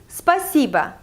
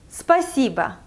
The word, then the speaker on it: спасибо: So the first part of this word, spa, it's like day spa, all these nice things, spa. And then the second part is si, like sea water.